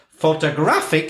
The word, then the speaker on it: photographic: never thought about that so photograph it's on the first syllable photographer is on the second syllable photographic it's moving to the third solo or photographically etc and